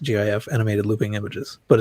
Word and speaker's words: GIF: it should be pronounced, the graphics format should be pronounced with a hard G. Because on the top of it says, if you've ever called a GIF, we forgive you.